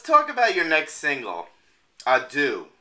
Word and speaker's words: Adieu: Now, Steve, let's talk about your next single, Adieu. Am I saying it right? That's a perfect French accent. Yes. Adieu, because I was in France for my honeymoon.